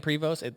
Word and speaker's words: Prevost: I've heard it pronounced Prevost and Prevost.